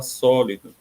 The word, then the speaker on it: sólido: Por exemplo, a palavra sólido. Sólido, o só vai ser a sílaba tônica, vai ser uma sílaba forte, vai ser uma sílaba que, ao ser pronunciada, ela tem uma tonicidade maior. E aí ela recebe o acento aí no só, sólido.